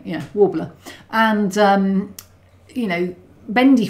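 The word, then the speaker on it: Worbla: the cupboard's full of warbler did I just pronounce that right yeah warbler and um you know bendy phone for doing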